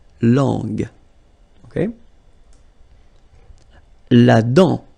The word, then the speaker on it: dent: La dent. Final T not pronounced. La dent.